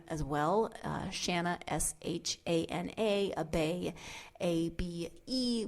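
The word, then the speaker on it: Abé: Shanna, Shana, Abe, A-B-E, with an accent over the E, so I'm guessing it's Abe.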